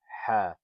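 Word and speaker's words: ح: Now this letter Ha, you pronounce it from the chest there. It's different than this letter Ha. This letter Ha, you pronounce it from like the back of like your throat area, but this letter you pronounce from your chest.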